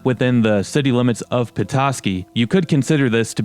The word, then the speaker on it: Petoskey: comes from the language of the ottawa people petoskey spelled with a d and not like the capital